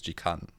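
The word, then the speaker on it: 時間: So the actual word for time is jikan. Like that. But this is pronounced tera, and then if it's in a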